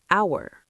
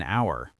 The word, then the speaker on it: hour: like hour or honest. Oh yeah, you don't say the H in hour.